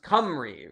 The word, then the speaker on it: Cymru: It's pronounced Cymru.